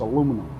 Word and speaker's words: aluminum: that were written and the guy had written out the pronunciation in the papers and it's aluminum the guy that discovered it